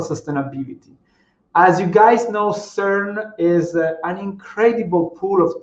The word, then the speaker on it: CERN: that was developed the know-how was developed at cern that's the right way to say it because